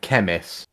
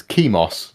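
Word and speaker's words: Chemos: it at first because i always want to call it chemis because i think chemist but it's not chemist it's kimos c-h-e-m-o-s we have a winner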